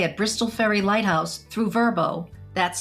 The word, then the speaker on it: VRBO: As we mentioned earlier, you can book a stay at Bristol Ferry Lighthouse through Verbbo, that's spelled VRBO, and also Airbnb.